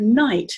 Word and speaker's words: night: underline it's fine and in the word night these three letters i g h when you see those three letters in words you're supposed to say i so you underline those